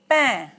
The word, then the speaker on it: pain: Now the next word is pain. Pain means bread. Okay? Pain, A-I-N, is pronounced as un.